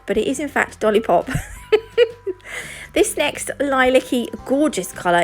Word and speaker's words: Dollipop: It's Dollipop, not Dolliplop.